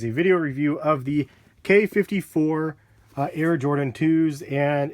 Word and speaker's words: Quai: I wanted to bring you guys a video review of the K54 Air Jordan 2s, and it is pronounced K. I believe it's Q-U-A-I. A lot of people say Quai, but I believe it's K54.